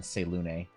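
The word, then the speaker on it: Selûne: Because yes, you do pronounce the E in Selune.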